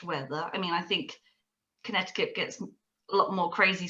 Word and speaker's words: Connecticut: like yes and then i discovered that connecticut is spelled really weirdly there's like a hidden sea that you don't know is in there so it's actually connecticut once i saw that